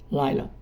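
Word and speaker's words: לילה: A pronúncia tanto no hebraico como no aramaico é a mesma, Laila, que significa noite.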